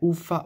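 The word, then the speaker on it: Uffà: un altro bellissimo è uffa uffa o uffa uffa visto che c'è l'accento sulla a e che è un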